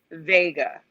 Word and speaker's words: Wega: in fact vega not vega even though it's pronounced vega so it's it explains it that they collaborated